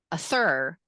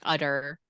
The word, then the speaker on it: other: Rachel put an other in bathtub in the, so yeah, if you said a thur, that's really confusing rather than someone just saying other.